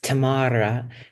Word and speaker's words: Tamara: goes well you know it's a Russian name and it's pronounced Tamara I'm like I love